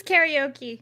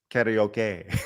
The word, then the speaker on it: karaoke: You know how you're supposed to pronounce that? Karaoke. Karaoke. There you go. Yeah. But us here in America, we say Or as it's usually karaoke. pronounced by drunk Japanese businessmen, karaoke.